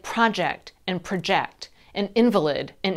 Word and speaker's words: project: there are some rules two syllable nouns usually have the first syllable stressed so picture table project but two syllable verbs usually have the second syllable stressed provide and project